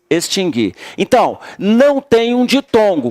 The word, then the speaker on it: extinguir: Mas o U não tem som, ó, tá? O U não tem som. O U só tem som quando você fala errado. Se você disser distinguir, aí você pronuncia o U, mas está errado essa forma. É distinguir, adquirir e extinguir.